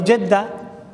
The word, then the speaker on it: জেদ্দা: আমরা বলি জেদ্দা। এটা জেদ্দা, জাদ্দা, যুদ্ধ। তিনটা সহি নামগুলো এই দুটো এই